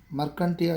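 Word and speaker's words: Marchantia: How to pronounce? Merchanta. Mercantia. Mercantia is the correct pronunciation.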